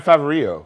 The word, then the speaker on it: Favreau: No, it's John Favreau. Oh, thank you. It's French.